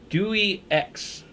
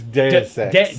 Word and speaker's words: Deus Ex: Dewey X. I guess how you pronounce it, Duex. Dewey X. It's Deus Ex.